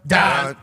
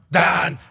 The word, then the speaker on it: Dahn: One half of the Hammer, Dahn. Cowboys, Stefan Diggs is here. Hammer, Dahn is a gambling show that comes out of